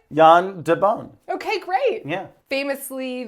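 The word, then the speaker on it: Jan de Bont: yand Deon yeah did I say it right Yan Deon okay great yeah famous Le the cinematographer of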